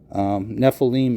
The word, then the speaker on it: Nephilim: That means you have to pronounce the I as a hard vowel. Nephilim is the same way.